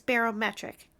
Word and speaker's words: barometric: The barometric cuz it's pronounced barometer, but then it's barometric, I believe.